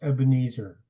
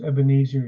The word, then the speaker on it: Ebenezer: It's often usually pronounced Ebenezer. But when it's pronounced Ebenezer, you don't know what it means. Even is a stone, and Etzer is to help. So this was called the stone of help.